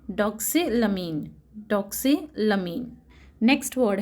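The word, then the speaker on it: doxylamine: ये वर्ड को प्रोनाउंस किया जाएगा एम्फेटामीन. एम्फेटामीन. नेक्स्ट वर्ड है डॉक्सिलमीन.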